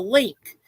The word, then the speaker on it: LINQ: And what that Link merry-go-round does, the Link is actually, it's spelled LINQ.